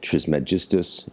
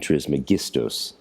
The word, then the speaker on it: Trismegistus: it would be Asclepius, just like Trismegistus in ecclesiastical Latin and Trismegistus in classical Latin.